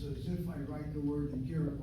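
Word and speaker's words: אגרת: The word Igeret, notice how I pronounce it, Igeret, I'm hitting the second of the 3 syllables.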